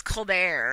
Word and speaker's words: Colbert: It's actually technically supposed to be pronounced Colbert, but he is pretentious and kind of meh. So it's Colbert, and I'm like, yes, I love it.